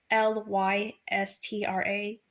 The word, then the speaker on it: Lystra: Paul was preaching at Derby, and I think it's pronounced uh, uh, Lystra, or I'm not quite sure. It's Lystra.